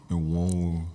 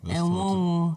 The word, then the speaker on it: Enwonwu: Enwonwu. Enwonwu. Yes, Enwonwu. That's how I pronounce his surname.